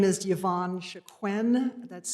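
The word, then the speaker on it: Chicone: My name is Yavon Shaquen. That's spelled C H I C O N E.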